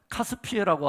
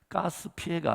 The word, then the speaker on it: 카스피해: 그 다음에 반대쪽에는 뭐가 있냐면 카스피해라고 하는 바다가 있습니다. 카스피해. 러시아 바로 밑에 지역인데, 자, 카스피해입니다. 가스피해가 아니라 카스피해입니다. 바다가. 발음을 잘 하셔야 돼요.